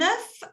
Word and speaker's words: œuf: En français, cuando hay uno solo, on dit un œuf. Y cuando hay más de uno, on dit des œufs. Des œufs. Se pronuncia diferente. ¿Ok? Un œuf, des œufs.